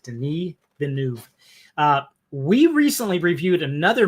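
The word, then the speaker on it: Denis Villeneuve: If you try to pronounce his name, it looks like Dennis. It's not. He pronounces it Denise Benu.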